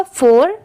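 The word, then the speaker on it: fore: करेंगे फॉर जैसे देखिए कहीं पर एफ ओ आर बस इतना लिखा होता है तो इसे हम फॉर प्रोनाउंस करते हैं फॉर बस यहां पर इ लगा है इसीलिए इसे हम क्या प्रोनाउंस करेंगे फॉर और आगे क्या है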